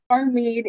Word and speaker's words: Hamid: I apologize is it Hamid is that how you say it our Mead H is silent okay I mean um